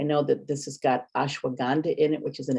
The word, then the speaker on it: ashwagandha: And it's ashwagandha. Did I pronounce that right? Yep, ashwagandha.